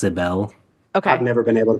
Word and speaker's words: Sybil: It's spelled like Sybil, but it's pronounced Sibel.